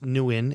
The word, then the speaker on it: Nguyen: okay so development wise dong nguyen and it's pronounced nuen and w-i-n is the pronunciation it's spelled n-g-u-y-e-n